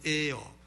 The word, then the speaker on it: heir: 후사란 영어로는 HEIR, 발음은 에어, 공기 AIR 하고 발음은 똑같고 뜻은 다르고 이게 후사죠.